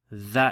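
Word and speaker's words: ظ: Dha, if you remember, it's like the lisp trying to pronounce Z with the lisp, so the.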